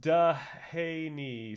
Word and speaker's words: Dehaene: It's pronounced Dehaney, sir.